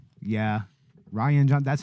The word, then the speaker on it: Rian: that's interesting to know I always called it called him Rhian Johnson or something like that I think it's Ryan yeah yeah rogue leader happens